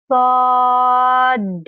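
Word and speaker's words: ص: Yang ini Sod. Sod. Ya, ada ujungnya ya.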